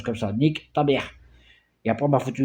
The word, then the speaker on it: nique ta mère: Tu tapes nique ta mère, Nike comme la marque Nike. Hein, et tu mets ta mère en un seul mot. Hein, ça se prononce comme ça, nique ta mère.